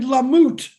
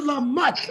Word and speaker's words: Lamott: Richard Lamoute. Go ahead, brother. Did I say it right that time? Mutt. You know a mutt? A doggy doggy? Like a dog. Richard Lamotte.